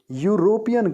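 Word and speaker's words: European: इस dash यूरोपियन country अब यूरोपियन शब्द हलाकि से शुरू होता है बट इसका उच्चारण भी या से शुरू होता है ना कि किसी वलसाड कि Italy used S ए यूरोपीयन country university यूरोपियन एक जैसा उच्चारण है यह तरह से दोनों की शब्दों की आवाज शब्दों का शुरुआत में यह की आवाज आती है इसीलिए इटली इज अ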